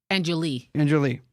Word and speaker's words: Enjoli: Today, my guest is Michelle Enjoli. Did I say it right? Enjoli. Hey, I'll end it with the A, but yeah, I'm sorry. It's okay. Enjoli, right? Enjoli. Yeah. Like Jolie, like Angelina Jolie.